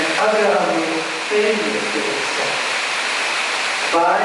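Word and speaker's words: āgraha: Agraha, there's a diacritic dash over the first A, and it's pronounced in a lengthy way, agraha, which means eagerness to accept.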